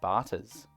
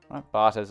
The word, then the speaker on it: Batta: calling it that because it ends in b-a-t-t-a similar to ciabatta like the type of bread and so hopefully that's how you pronounce it i'm going to start